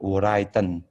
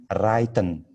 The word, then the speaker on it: written: Yes, not written, tapi written. Not written. Written. Okay. Yes. Without W. Okay. Ya, tanpa W kalau bacanya.